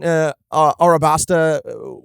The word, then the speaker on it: Arabasta: Because he had these moments in Arabasta, which Crocodile, told us is the correct way to pronounce it now.